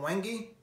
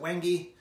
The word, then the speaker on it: wenge: handle is made from wenge i pronounce it wenge you pronounce it however you like it's very dark i